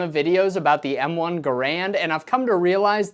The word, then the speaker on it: Garand: controversial in the past starting with its pronunciation I have always said it and will continue to say it M1 Garand every time I make